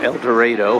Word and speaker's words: El Dorado: the Columbia El Dorado or as we say it back in Kansas uh El Dorado El Dorado was the town where I was raised in Kansas that's how we pronounce it also I think